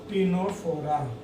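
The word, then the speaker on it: Ctenophora: इसमें सी साइलेंट है, ध्यान रखें, टीनोफोरा।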